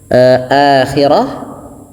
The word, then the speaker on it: الْآخِرَةِ: Ya, pada lafal akhirah ini terdapat mad badal kembali sebagaimana tadi ayat al-kubra.